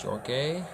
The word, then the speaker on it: Jorge: Jorge, or Jorge, that's how it's pronounced, Jorge.